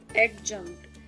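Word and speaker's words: adjunct: अ न और ट, एडजंक्ट। डी साइलेंट है इसलिए डी नहीं बना। आप सोच रहे हो कि मैम ने जे बना दिया है, डी साइलेंट है इस वजह से नहीं बना, एडजंक्ट होगा।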